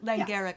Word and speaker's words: Langara: You recently developed a course for, and you're going to have to help me on the pronunciation, the Langara Langara. Langara College.